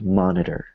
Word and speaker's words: monitor: were WR monitor right so we have i t o so I is a vow O is a vow T is is our consonant that we're going to make weaker so instead of saying monit like a heart te it's more like monitor in American English no in American English